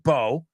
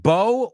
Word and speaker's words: bow: But I want to look at that word bow because it's a really confusing word. Why? Well, let's look at it because you can either pronounce it bow or bow.